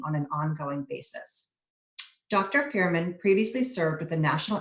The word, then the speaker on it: Fureman: dysfunction in episodic neurological disorders please welcome dr fehrman and i hope i'm pronouncing your name right now you are